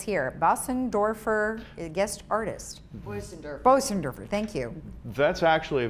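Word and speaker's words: Bösendorfer: Bosendorfer, thank you. That's actually a very difficult name to pronounce.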